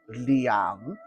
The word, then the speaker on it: Liang: the sword and shield that one is called Liang l i a n g so one w